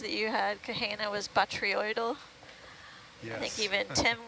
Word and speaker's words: botryoidal: botryoidal.